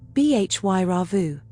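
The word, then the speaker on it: Bhairava: Pronounced Bhy Rauvu.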